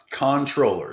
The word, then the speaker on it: comptroller: It's pronounced controller, spelled comptroller.